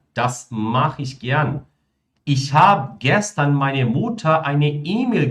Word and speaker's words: hab: Dass ich heute keine Zeit habe, né? Hab, ou seja, sem aquele E, tá?